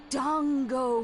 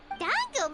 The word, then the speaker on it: Dango: Dongo Milk. Why say it like that? Ooh. Dango milk? Correct.